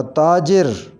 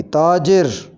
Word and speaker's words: تاجر: ادائیگی ہوگی پنجم، پنجم۔ تاجر، صحیح تلفظ ہوگا تاجر، جیم کی نیچے زیر آئے گی تاجر۔ بھیانک، صحیح تلفظ ہوگا